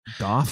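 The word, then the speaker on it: Gough: Goff as Chloe.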